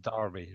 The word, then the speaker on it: Derby: It's spelled Derby, but it's pronounced Derby.